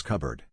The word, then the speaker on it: cupboard: they are pronounced as cupboard the p disappears you also have the